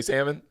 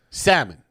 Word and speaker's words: salmon: Chandler Jones who say salmon salmon I said it all in there it's just I haven't listened you didn't hear the L no no I didn't